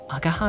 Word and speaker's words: Agaha: Agaha is the pronunciation.